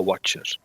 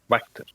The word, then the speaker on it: Wachter: Oh, Watcher. Wachter. Oh shit. That name makes a lot of sense in Dutch. We would pronounce that Wachter.